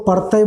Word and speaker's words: परतय: खोरठा में इसको परतय बोलते हैं, परतय, क्योंकि खोरठा में संयुक्त अक्षरों का अभाव रहता है खोरठा शब्द निर्माण में, तो उसी हिसाब से उच्चारण भी हमारा है परतय, है ना।